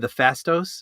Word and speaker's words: Phastos: And even the Fastos, is that how you say it?